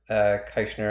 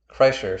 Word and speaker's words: Kreischer: Again, I'm not trying to be Bert Keichner as mentioned in another video, but is that how you pronounce his name? Bert? Is it Keichner or Kreischner? But he is a shirtless comedian. Kreischer, sorry, Bert Kreischer.